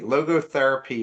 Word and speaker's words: logotherapy: Um, Logo, I hope I had pronounced this correctly. Logotherapy is a unique philosophical foundation in this book.